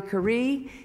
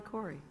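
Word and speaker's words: Khouri: and gentlemen please join me in welcoming curry and paul antonacio that's that's the latest and most original pronunciation of my last name i've heard in a long time it's it's it's cool it's corny cory yeah they did say that it was the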